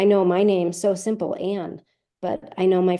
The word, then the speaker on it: Ann: but I know my friends who speak Spanish, the "a" sound in my name isn't a sound that they make in the Spanish alphabet. So Ana would be more comfortable, but my name is pronounced Anne, so they have to practice that.